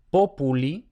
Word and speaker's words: populi: Por ejemplo, tenemos populi, la penúltima sílaba es pu, y vemos que no